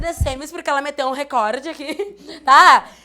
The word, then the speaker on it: recorde: em vocês como assim recorde recorde recorde é aqui a sílaba tônica Ou seja é uma palavra paroxítona essa questão da pronúncia